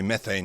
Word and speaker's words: methane: produce different amounts of methane. And I'm trying to remember to say methane because I know that's the pronunciation you use in the US. We say methane.